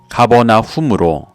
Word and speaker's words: 가버나훔: 이곳은 더 정확히 발음하면 가버나훔으로 나훔의 마을이라는 뜻이기도 했습니다.